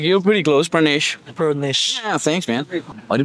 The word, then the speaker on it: Pranesh: It's very difficult for foreigners to pronounce the rrr part of my Pranesh. Yeah. But like you're pretty close, Pranesh.